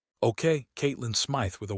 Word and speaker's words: Caitlyn: My name is Caitlyn Smith. Note pronounced Catelyn Smith.